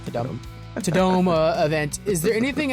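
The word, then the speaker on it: Tudum: They call it Tadome. That's so stupid. It's spelled Tadum.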